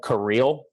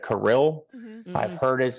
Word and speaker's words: Kirill: I don't know if you guys have noticed, but I call him Kirill instead of Kirill.